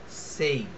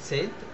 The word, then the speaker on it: Said: তো তার নাম হচ্ছে Edward সেইদ, EDWARD, Edward সেইদ, SAID, Edward সেইদ, উচ্চারণটা হবে সেইদ, SAID, সেইদ, এডওয়ার্ড সেইদ।